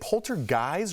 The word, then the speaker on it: poltergeist: Real quickly, is it poltergeist or poltergeist? Poltergeist. When you said that, I'm like, What did I say? You said it right. I was Okay, like, I good. thought it was poltergeist. Like guys? Yeah, like a bunch of guys.